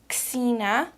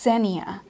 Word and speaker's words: Xenia: Her daughter, Xena. Did I say it right, Lauren? I think it's Xenia.